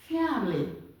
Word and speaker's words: family: the next one is family family not family family my family okay let's go open your this shows that this one is silent okay family the a sound here is silent family family family then